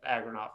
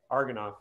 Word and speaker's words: Agranoff: So that is, and I definitely always apologize for that because I have a name that people always mispronounce, Agranoff. People always say Argonoff for some reason, but it is definitely not that.